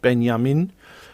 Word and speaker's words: Benjamin: She used to, and because my mother was a Dutch woman, and when she was angry, she'd say Benjamin, and that's how you pronounce it in Dutch, Benjamin.